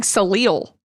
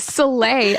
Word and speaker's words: Soleil: I kept thinking Salil, and I was like, that's not. Anyways, Soleil, unfortunately, doesn't make it